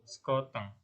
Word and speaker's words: sekoteng: Pengucapannya es sekoteng. Es sekoteng.